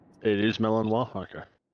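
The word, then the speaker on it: Malinois: they've bought two Bell Melano puppies from uh Germany. I I may be pronouncing it wrong, but I think it's Melanino. It is Melanino.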